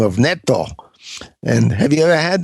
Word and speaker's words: natto: How do you say that again, Elio? It's natto, I think. Natto, is that right? I think that's right.